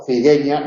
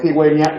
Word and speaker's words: cigüeña: Sin diéresis aquí diríamos ciguela, o cigueña, en lugar de cigüeña, lingüístico.